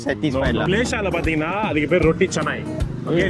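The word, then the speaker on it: roti canai: மலேசியால பாத்தீங்கன்னா அதுக்கு பேர் ரொட்டி சனாய். ஓகே, சில பேர் ரொட்டி கனாயின்னு சொல்லுவீங்க, ரொட்டி கேனைன்னு. நோ, இட்ஸ் ரொட்டி சனாய்.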